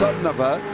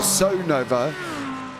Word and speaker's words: Sonova: By the way, it's pronounced Sonova or Son Nova with the emphasis on Nova, just like Sonoma, California.